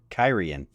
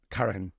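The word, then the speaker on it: Cairhien: out phonetically for you Karen uh Karen sounds like Karen but with a ey Karen um what she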